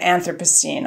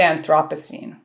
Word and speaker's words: Anthropocene: Yeah, it's pronounced differently depending on which side of the Atlantic you're on, actually. What is it on our side of the Atlantic? It's usually pronounced the Anthropocene on our side of the Atlantic. But if I wanted to be like fancy and British and sound smart, what would I say? You'd say Anthropocene.